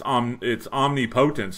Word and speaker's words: omnipotence: It's omnipotence, not omnipotence.